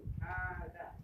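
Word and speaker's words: هذا: ya cara bacanya seperti baca Alif Panja ini bacanya haus panjang di artinya initingi artinya ini hadza Ayo hadza H Oke ee belajar bahasa itu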